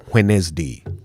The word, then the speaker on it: Wednesday: Now, the word is uh pronounced a little bit differently from the spelling, and that's really what trips us up sometimes. Just try to remember that the first d and the second e are silent.